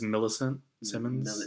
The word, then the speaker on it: Millicent Simmons: how do you pronounce her name? Yeah, it's Millicent Simmons.